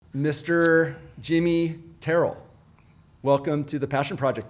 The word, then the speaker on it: Terrell: A lot of people will say Terrell, but it's actually Terrell.